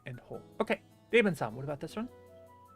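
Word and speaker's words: を: A E U O. And this doesn't get pronounced W. It only gets pronounced O.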